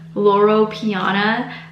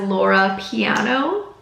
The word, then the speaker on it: Loro Piana: is the safe space for the longest time I was pronouncing lauro Piana as Laura piano I'm embarrassed I've never